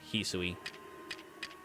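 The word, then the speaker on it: Hisui: um an evolution here in the Hooui region. His the better pronunciation. Hisoi.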